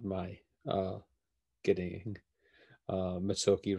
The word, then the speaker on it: Mezzocchi: jeff um and yes that is how he pronounces it uh uh it's not it's not my uh getting uh mitsuoki wrong um we talk a lot about about